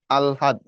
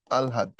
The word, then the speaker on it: আহ্লাদ: আহ্লাদ শব্দের প্রমিত উচ্চারণ আলহাদ, আগে ল পরে হ, আলহাদ। এটা কথাটা লেখার সময় আমরা লিখি আহ্লাদি, পড়ার সময় পড়বো আলহাদি, আগে লটা আসবে পরে হটা যাবে।